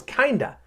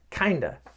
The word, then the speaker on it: kinda: got you gotcha okay the third one in this lesson is kinda kinda which means kind of but it's funny cuz when I spell it out kind of with a oh F I actually don't say kind of we don't say that